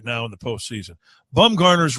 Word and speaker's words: Bumgarner: I don't know how to pronounce it. Yeah, it's Bumgarner.